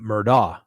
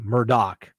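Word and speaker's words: Murdaugh: case I pronounced that Murda because that's the way it's spelled d-a-u-g-h but it's pronounced with a doc Murdock is what I've been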